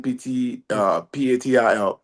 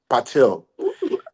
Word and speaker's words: Patil: His name is spelled as Pratibha. Last name Patil. Patil.